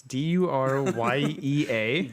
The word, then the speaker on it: Duryea: I think it's pronounced Durye. It's Duryea. Dirty, eh?